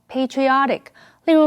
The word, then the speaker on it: patriotic: 这篇文章的第一个重点，我们来看 patriotic 这个形容词。P-A-T-R-I 这个字根有父亲的意思，因为国家有父亲的意味，所以 patriotic 是指爱国的，或者是有爱国心的。注意它的重音是在 O 这个音节，念成 patriotic。例如 many patriotic young men joined the army to fight for their country during the war.